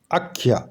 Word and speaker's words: আখ্যা: কি বাক্যটা রয়েছে আখ্যা আখ্যা এমনি মান্য চলিত বাংলায় উচ্চারণ করা হয় আখ্যা কিন্তু সংস্কৃতে এটা উচ্চারণ হবে আখ্যা এর মধ্যে কি আছে